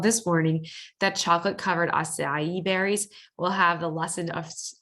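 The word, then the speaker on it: açaí: The acai, and that's how you pronounce it, is actually a small, round, black, purple fruit grown in South America.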